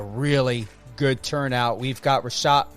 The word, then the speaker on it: Reshat: It's Reshat.